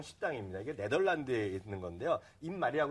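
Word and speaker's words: Eenmaal: 입말이라고 그냥 쉽게 읽으시면 되는데 실제로 그 발음을 정확히 하면 N말이고요.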